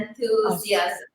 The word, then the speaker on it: enthusiasm: Enthusiasm. Is it Lovely, yeah. Yeah, it's the emphasis is on thew. So it's enthusiasm.